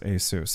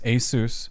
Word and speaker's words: ASUS: I've always pronounced it as ASUS.